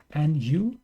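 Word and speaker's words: ν: here's the uh rx93 new Gundam so that character is new in the Greek alphabet like n Nu so you pronounce that new Gundam and this this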